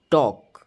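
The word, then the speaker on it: talk: यहां पे के साइलेंट हो गया तो यह साइलेंट लेटर के टॉक टॉक में एल साइलेंट हो गया। तो यहां पे एल साइलेंट रहेगा।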